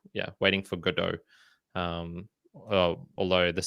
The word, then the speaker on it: Godot: There's this play, and I think it's called like Waiting for Godot, Godot, and it's French, I believe. So you don't pronounce the T. Yeah, Waiting for Godot.